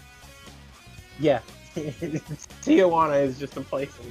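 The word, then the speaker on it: Tijuana: Tahana. Tahana. Oh, I saying it wrong. Yeah. Tijana is just a place in Mexico.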